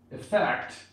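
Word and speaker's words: affect: One more thing about effect that usually is a noun here with E, but if it goes with A, effect, and the stress moves to the second syllable, that's the verb, so watch out for that.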